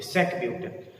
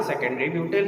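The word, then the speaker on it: sec-butyl: Spelling नहीं लिखते हैं और पढ़ते समय सेक पढ़ते नहीं है कि सेक ब्यूटिल। आपको पढ़ना सेकेंडरी ब्यूटिल है बट लिखना SEC सेक।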